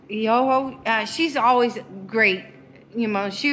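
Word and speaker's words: Ejogo: Eoho? Eoho.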